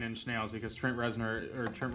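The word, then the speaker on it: Reznor: musical bands ever 9 in Nails because Trent resar or Trent resar how the I can't never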